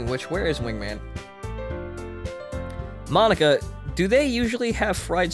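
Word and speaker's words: Monika: Monica. Get out with your Japanese puns. Eh? That's not how you say my name at all. Oh. I fucked it up. It's Monica.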